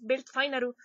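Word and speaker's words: Welt Final: está en alemán es belt finaru se escribe w e l T final Como si escribieras final en inglés pero es Bel finaru Entonces si la pronunciación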